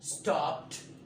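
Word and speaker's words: stopped: जब कभी आपका वर्ब पी पर खत्म हो तो आप उसको सेकंड फॉर्म थर्ड फॉर्म में कन्वर्ट करने के बाद प्रोनाउंस करने के लिए आप टी का इंतखाब कर ली, टी साउंड निकाले, ना कि डी।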